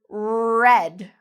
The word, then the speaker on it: red: Or we have here the word red. You hear that? It's almost like a growl that a bear might make. Red. This is very different from head.